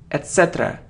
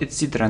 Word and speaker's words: etc.: It isn't etc., so the stress is on this syllable, etc., not etc., no.